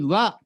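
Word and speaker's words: 和: So when I explain the Japanese culture, which is highly related with our collaboration with MJIT, this character is pronounced wa.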